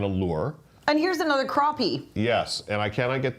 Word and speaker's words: crappie: get that fish oh rfj says pronounce crappie crappy really yes yes and we've confirmed wow it's a black crappie I always thought it was crappy now now look at